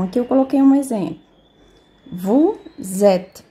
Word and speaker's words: vous êtes: Vous êtes. Então, o S tem som de Z. Aí vai ficar vous êtes na fonética.